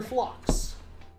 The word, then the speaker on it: Flux: What is the correct name to pronounce Dr. Flux? Is it Dr. Flux, Dr. Flux, or Dr. Flax? Well, it's Dr. Flux.